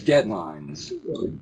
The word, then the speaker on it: deadlines: another one of those compound words right that you know has always got a first syllable stress and you you tend